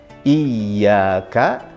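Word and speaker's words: إياك: Jadi tekan. Iyyaka. Iyyaka. Ingat. I baru ya.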